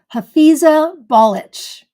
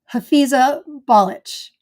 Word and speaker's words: Hafiza Balic: Okay, the pronunciation of this variety from Turkey is Hafiza Balic. Breaks it down, it says ball itch. No joke. But it's Hafiza Balic is the pronunciation, pink.